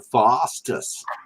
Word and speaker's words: Foster's: say it right okay you gotta say it like this right Foster's Foster's not Foster's fastest yeah Foster's might give